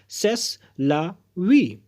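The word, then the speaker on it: c'est la vie: यही तो जीवन है, यही तो जीवन है को अगर आपको फ्रेंच में बोलना है तो आप बोलेंगे सेस ला वी।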